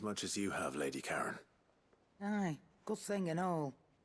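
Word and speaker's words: Charon: will and my bad I've been calling her Sharon forgot her name pronounced Karen all right let's go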